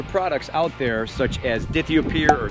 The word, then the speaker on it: dithiopyr: There are some other products out there, such as Dithiopyr or Dithiopyr, as some people pronounce it, that prevent crabgrass as well and other weeds.